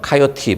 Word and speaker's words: 코요테: 코요테, 그러니까 우리 미국식 발음은 카요티 이런데 코요테로 하겠습니다.